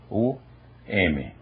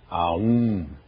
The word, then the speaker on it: Om: pronunciar o sânscrito corretamente aqui há uma fusão não se pronunciam estas letras separadamente pronuncia-se om e a questão do M que é uma questão curiosa também e interessante é que o m na verdade não é